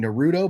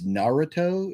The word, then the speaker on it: Naruto: it wrong i think i've been saying naruto but i think it's naruto is what my daughter corrected me on if i if